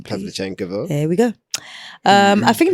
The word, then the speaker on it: Pavlyuchenkova: You pronounce the last name, please. Pavlyuchenkova.